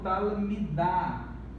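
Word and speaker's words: תלמידה: Nós não devemos falar talemid, nós devemos falar, pronunciar talmid, ou seja, não pronunciamos o shivá. E aqui do mesmo modo, talmidá, discente aluna.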